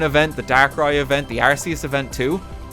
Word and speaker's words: Arceus: You pronounce it Arceus.